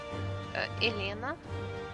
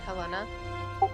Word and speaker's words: Helena: Elena, Helena. I'm sorry, I always pronounce with the Russian pronunciation, but Helena.